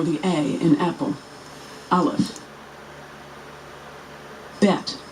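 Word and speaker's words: בית: a in apple olive bet which is pronounced b as in boy or v as in Victory native speakers know which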